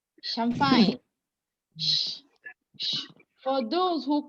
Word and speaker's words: champagne: CH in French is pronounced as sh, sh, sh, sh, sh, sh. Champagne.